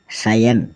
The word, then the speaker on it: scion: SCION सायन, सायन मतलब वंशज। फिर हम चलते हैं डी अल्फ़ाबेट की ओर जिसमें डी साइलेंट रहता है।